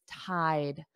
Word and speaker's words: tied: walked and tied eyed so you need to add a d for spelling and the pronunciation is tide tide they tied the knot